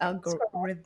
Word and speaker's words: Algorithmiq: Am I pronouncing it right? That's correct. Algorithmiq. Yes, that All right.